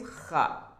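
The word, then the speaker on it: خ: Then the next one is kha, kha. When you are putting this dot at the above, it's becoming kha, kha as well. You will have to pronunciate it from your throat.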